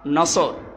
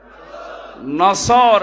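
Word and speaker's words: نصر: নিয়েন আমরা তাফসীরুল কোরআন মাহফিলে প্রবেশ করছি সূরা নসর কোন সূরা বলেন বলেন নসর না নাসর নুন সোয়াদ র নাসরুন শব্দের শাব্দিক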